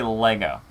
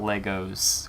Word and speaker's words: Lego: you Sean looks like you guys say Lego not Legos with an S which is I which is technically the proper way to say it instead of saying Legos with an S you just say Lego this is gonna be